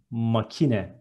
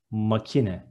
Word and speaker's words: makine: Machine is makine in Turkish. Instead of sh, there is k and it is makine. One more time, makine.